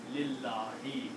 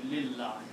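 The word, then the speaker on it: لله: Then we do not pronounce this alif. So the word is now Lillahi.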